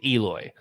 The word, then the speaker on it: Eloy: el although he didn't he corrected the other day he's like it's eloy did he why why do they keep saying it's alloy then all right then white snacks did a whole pronunciation where they actually recorded the players pronouncing their own name and you just hit the button where it says play and it's like yeah it's eloy which i think guys